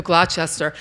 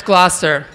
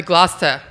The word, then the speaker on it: Gloucester: And it's Gloucester. So that was 20 years ago. And now I've learned that it's actually Gloucester. Half of it doesn't get pronounced. I'm beginning to become a native in Gloucester.